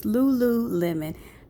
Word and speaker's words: lululemon: on the website i was saying the store name wrong my sister corrected me it's lululemon very nice store i recommend it okay so